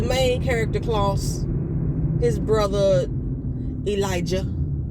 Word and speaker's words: Elijah: character clause his brother Elijah they make sure they pronounce the heart Jay Elijah and Rebecca I really